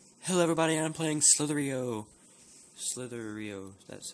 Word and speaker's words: slither.io: hello everybody I'm playing slithery Oh slithery oh that's how you say it yeah